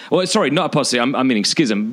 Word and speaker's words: schism: confusion about this, but schism. Very quickly, apostasy is just the total repudiation of the Christian faith, but schism or schism, how do you pronounce it? Schism. Schism.